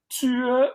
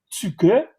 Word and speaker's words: Tycho: J'ai entendu des Danois le prononcer, j'ai entendu des Danois ne pas le prononcer. Donc, ça se prononcerait Tue ou Tuke, Bra, le E se